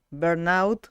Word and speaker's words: burnout: dudas y Qué es digamos que bueno se pronuncia burnout justamente bueno se escribe todo junto obviamente y